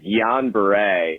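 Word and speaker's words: Guillain-Barré: listens to the show i'm pretty sure it's pronounced jan beret holy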